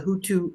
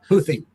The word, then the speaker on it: Houthi: They also supported the Houthu, I hope I'm pronouncing this correct, Rob Houthi.